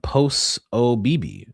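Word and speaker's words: Posobiec: Uh Jack Po uh post OB. Oh, that's how it's pronounced.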